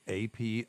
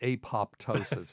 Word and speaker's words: apoptosis: have it okay but people will pronounce that apoptosis and it's like God that just makes me cringe I have a journalism